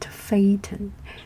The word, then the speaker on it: Phaethon: So I would like to tell the story of Phaethon. Phaethon, Phae, Phaethon. Some people pronounce it Phaethon.